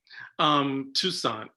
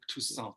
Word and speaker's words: Toussaint: Toussaint, like croissant. Okay, Toussaint, like croissant.